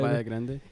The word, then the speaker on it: Caballo Grande: Caballo Grande.